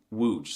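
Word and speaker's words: Łódź: If you said wooge, you're correct. Congratulations. See, it was easy. You see, the L with a stick going through it makes a W sound.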